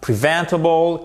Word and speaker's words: preventable: Vous avez à chaque fois votre accent tonique ici sur la deuxième syllabe, ok?